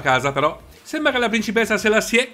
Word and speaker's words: Selassié: però sembrava la principessa selassiè con l'accento sulla e si sia avvicinata a